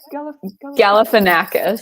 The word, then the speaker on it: Galifianakis: I'm gonna mispronounce it again. No, Zach Galifianakis.